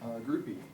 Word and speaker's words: Groupie: Groupie. Groupie, just like it's spelled.